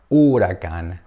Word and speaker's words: huracán: Remember that the H, we don't pronounce it, it's silent H, yes? We don't say huracán. No. We say huracán.